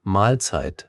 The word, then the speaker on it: Mahlzeit: Viele sagen es locker Mahlzeit, also 2 Teile wie Mahl und Zeit.